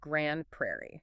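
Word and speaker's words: Grande Prairie: It's Grundo Prairie, pronounced Grand Prairie.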